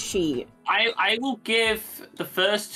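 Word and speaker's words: χ: It's not pronounced Cross, it's pronounced She.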